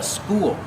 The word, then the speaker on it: spool: Use the long oo like pool and cool, followed by the dark L.